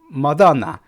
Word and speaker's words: Madonna: 자, 마돈나. 이 마돈나인데 마돈나 이렇게 발음해 줍니다.